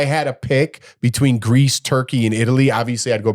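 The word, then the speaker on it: Türkiye: I more so liked Kusadasi, which is part of Turkey. And if now they changed Turkey to Turkey. That's how you pronounce Turkey now.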